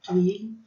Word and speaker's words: tuile: A tuile, né, essa primeira foto, ela significa telha em francês, né, a pronúncia é bem tranquila, tuile, e ela tem a finalidade de decorar, então